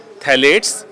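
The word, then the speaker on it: phthalates: है जिसमें बिनोल ए थैले पी साइलेंट है पी टी एच ए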